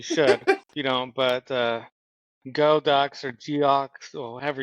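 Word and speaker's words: Geaux: If you don't, but Go Ducks or Geox or however you spell it. But I know how to say the word, but G-A-U-X Ducks. Yeah, I know it's Go.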